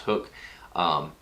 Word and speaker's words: Hook: It looks like huck, but it's pronounced hook.